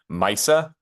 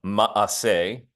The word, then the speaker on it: Ma'aseh: I gave it its familiar Yiddish pronunciation, Maisa, like a Bubba Maisa. You've probably heard of that before. A Maisa is Yiddish pronunciation of Ma'aseh, which comes from the